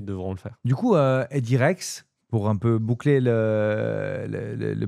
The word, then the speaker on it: Edirex: Donc, pour la partie particulier, donc c'est la personne qui veut déposer une demande un appel d'offres, donc edirex.ch, Edirex, comme ça se prononce, comme ça se dit, d'où le travail sur le logo.